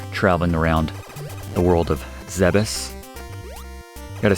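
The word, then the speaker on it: Zebes: least when you're traveling around the world of zebas gotta say it's odd for me to pronounce it zebus because I always said zeebies growing up but apparently the correct Canon pronunciation is zebus sounds very strange but we're gonna head up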